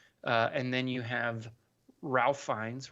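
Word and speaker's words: Ralph Fiennes: and then you have Ralph finds Rafe finds I believe is how he pronounces it playing Chef slowik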